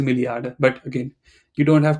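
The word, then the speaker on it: Milliarde: billion we say Milli okay people will say billion people will say billion you know because very often people use German they will use the English word as it is but I think the correct way to say it is milliard but again you don't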